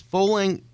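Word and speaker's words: Fowling: um it is a 50,000 squ foot space fing rhymes with bowling it's a mashup between football and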